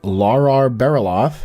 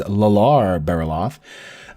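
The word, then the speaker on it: Llarar Bereloth: and we also convinced a guy named Lara barrel auth which I had previously been pronouncing it wrong as lalar barrel off we convinced them to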